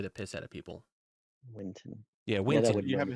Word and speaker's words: Winton: the tongue so I would always call it Winston and it would just annoy the piss out of people winon yeah winon you have a history of this